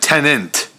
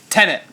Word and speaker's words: Tenet: You're saying it like Tenant. Well, how do you say it? How do you say it? Tenet. Tenet. Because it's Tenet.